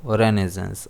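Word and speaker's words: Renaissance: कई लोग इसे रेनेसा भी पढ़ते हैं जो कि गलत है। अगर हम प्रोनाउंसिएशन चेक करेंगे, चाहे अमेरिकन हो चाहे यूके प्रोनाउंसिएशन हो, तो इसे रेनेसेंस ही कहा जाता है। तो ये चीज़ हमारे लिए इम्पोर्टेंट है, ये रेनेसेंस है ना कि रेनेसा है।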